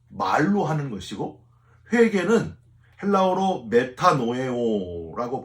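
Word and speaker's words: μετανοέω: 자복은 말로 하는 것이고 회개는 헬라어로 메타노에오라고 발음을 하는데 이 메타노에오는요.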